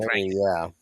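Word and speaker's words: 'Ndrangheta: I think the N is silent, so that's why I went Drangheta.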